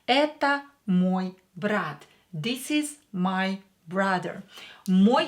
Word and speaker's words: мой брат: Here E is stressed, so O will be pronounced as A. Это мой брат.